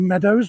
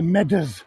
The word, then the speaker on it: Meadows: uh of the city nobody in the city would call it the Meadows because uh you have your own way of pronouncing things and that sound OES you don't have that in Nottingham this is called the medas the medas just the same as